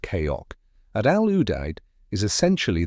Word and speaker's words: CAOC: The combined air operations center or CAOC pronounced Koko at al- Udide is